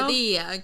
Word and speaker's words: quesadilla: quesadilla. Is it? Quesadilla. But This is how you pronounce it.